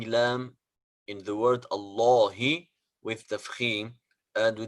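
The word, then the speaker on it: الله: the rule of course whenever alam of jalal allah is preceded by father or bomb so alam is pronounced heavy but if it is preceded by kasra like bismillahi it is light so this is the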